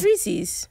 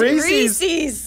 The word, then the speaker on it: Reese's: Reese's. Reese's. You said Reese's. It's Reese's. Yeah. Oh. It's Reese's Pieces.